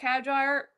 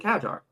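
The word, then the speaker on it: Hadjar: happened during the race, also Isaac Hagar Hagar, did I just say his name? Did I butcher his name?" No, Isaac Hajar.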